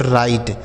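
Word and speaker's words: write: देखिए एक चीज ये समझिएगा यहां डब्ल्यू के साथ आर लिखा है। तो ये जो डब्ल्यू लिखा है ना यह साइलेंट है। मतलब इसको नहीं पढ़ा जाएगा। किसको? डब्ल्यू को। यानी इस डब्ल्यू को हम पढ़ेंगे नहीं।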